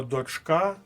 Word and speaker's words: дочка: незвичне слово і тільки Останнє слово дочка має наголос на другому складі Але ми не плутаємо